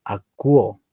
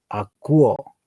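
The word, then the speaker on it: ἀκούω: Pero aquí se leería, lo que están viendo, los que están atentos, diría esta palabra, ¿cómo se pronuncia? Sería acuo, acuo, acuo, acuo.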